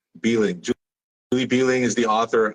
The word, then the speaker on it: Behling: how do you say your last name Julie beeing beling Julie beling is the author of beneath beneath